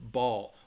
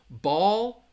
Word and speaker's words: ball: that in this one ball ball Bowl so again in that case mmm let's see ball like a bouncy ball it's really the difference in pronunciation ball is going to have that short a sound ball ball and